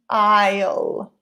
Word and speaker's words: aisle: letter B is the aisle so be careful with the pronunciation I know that there's an S but S is silent a bit like the word island it's not Iceland its